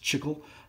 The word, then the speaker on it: chicle: they get all their I guess it's pronounced chicle for their gum from there